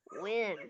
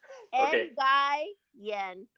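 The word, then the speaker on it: Nguyen: You last name is Win and I'll pronounce it phonetically. N yen.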